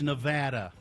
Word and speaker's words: Nevada: How to properly pronounce Nevada. It's Nevada. It's not Nevada?